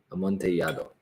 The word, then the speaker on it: amontillado: Is that how you say Amontillado. Amontillado. When there's two L's in the Spanish language side by side, it's a ya sound. Amontillado.